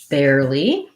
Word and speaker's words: barely: the word barely so barely has the air diphthong just like the word air there and where sorry i didn't write that very well let's try that again air like the air we breathe so bear this kind